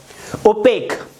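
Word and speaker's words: opaque: Next है ओपेक। इसको ऐसे प्रोनाउंस करेंगे ओपेक, कुछ लोग ओपेक यू बोलते हैं इसको, ओपेक ये होता है।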